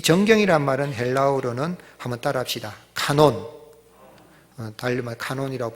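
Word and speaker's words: κανών: 말고 경이라는 말인데이 정경이란 말은 헬라어로는 한번 따라합시다 카논 달말 논이라고 발음할 수도 있고 한번 더 따라합시다 캐논 캐논 들어봤어요 캐논이 뭐죠 그게 그 캐논입니다 그게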